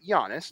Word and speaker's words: Giannis: How do you actually say Giannis onto Takmpo? Yeah. So I said it right. Giannis, not Gon.